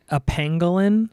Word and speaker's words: pangolin: I think it's theorized that it's a pangolin. Pangolin. Sounds like penguin, but pangolin, Pangolin.